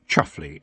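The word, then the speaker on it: Chumsfanleigh: one's having twins Roland the Chums fley pronounced chuffle under that strange rule that the more gentrified of family is the more peculiar the pronunciation of their name becomes Tiffany had once heard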